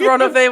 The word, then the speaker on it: Ronove: It is Ronove. Yeah. Ronove.